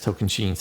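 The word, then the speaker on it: Tocantins: Yes, Token Chens. That's right. That you have to pronounce.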